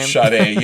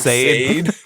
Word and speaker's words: Sade: Sade. Yeah, we got Sade. What episode was that? Like episode 30 where I made fun of you because what'd you call her back then? Like Sade?